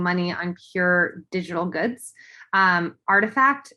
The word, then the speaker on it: RTFKT: Artifact, it's spelled RTFKT, but it's pronounced Artifact.